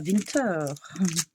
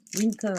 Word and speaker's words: winter: Alors euh on dit winter, on dit pas winter. Donc c'est assez euh ça s'écrit pareil mais ça se dit pas pareil.